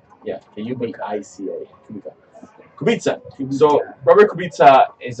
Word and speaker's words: Kubica: His name is if Mike, if you want to like look him up, his name is spelled Kubica. Yeah, Kubica.